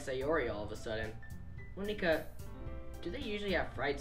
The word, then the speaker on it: Monika: Monika. That's how you say my name.